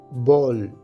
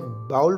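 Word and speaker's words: ball: करना कहते हैं ब्राउज बॉल बॉल क्रिकेट के खेल में बैट्समैन की तरफ गेंद फेंकने को बॉल कहते हैं बॉल इसे बाउल प्रोनाउंस करना गलत है यह बॉल है ब्रेक ब्रेक तोड़ना या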